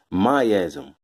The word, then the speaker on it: miasm: Miasm, or miasm, however you want to pronounce it, whether you want to say tomato or tomato.